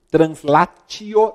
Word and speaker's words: translatio: latim Claros amigos sabem translatio né que a gente pronuncia translatio e o disse com